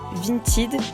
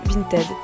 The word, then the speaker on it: Vinted: Alors moi je sais pas pourquoi je dis Vinted, mais je crois qu'en fait ça se prononce plutôt Vinted.